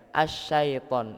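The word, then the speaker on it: الشيطان: Jadi bacanya kadang keliru. Auzubillahi minasyaitan. Nah, jadi mirip-mirip ke e ya. Asyaitan. Nah, jadi yang benar itu bacanya asyaitan pakai i ngucapinya itu kita meringis Pak. Enggak kayak mau senyum ngih.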